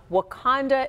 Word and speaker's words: Wauconda: the mayor's office of Wakanda, Illinois. Pronounced the same but spelled differently.